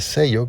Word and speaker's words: Zello: Y para esto puedes descargar la aplicación de Sello, que se escribe ZELLO, y ahí una vez que descargues